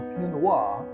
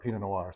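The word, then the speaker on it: pinot noir: Noir or P Noir as the French say yes we're going to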